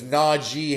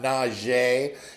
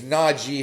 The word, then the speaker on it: Najee: All right, just like I keep reminding you that his name is Najee Harris and not Najee. His name's Najee Harris.